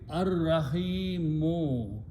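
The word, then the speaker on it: الرحيم: In the Tajweed, when Ra comes and Lam comes before that, we don't pronounce Lam, but we pronounce Ra twice.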